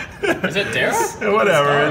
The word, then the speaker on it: Darragh: Where's Kelsey Dyer? She probably fucks with this. This drink is Kelsey Dyer. Kelsey, what do you think of that joke? Okay, it's true, but fuck you guys, it's pronounced Dara.